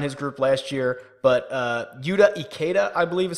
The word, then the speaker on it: Yuta Ikeda: Oh, Fisher, who actually won his group last year, but Yuta Ikeda, I believe is how you pronounce it, and then Matt Kuchar.